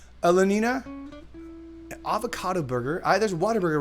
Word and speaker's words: Whataburger: a veggie burger Lenina avocado burger i there's water burger right down the street from my my place yeah and for those of the dough no water burgers so it's so it's it's spelled what a burger but it's actually pronounced